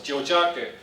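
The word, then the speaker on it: Tiohtià:ke: I said, well, obviously, it's the way it's spelled. So we got the prize, so it's Jojake.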